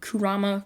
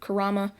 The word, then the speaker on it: Kurama: i mispronounced it so i'll say it right now kurama karama i said it wrong apparently in the video a bunch of times so people just keep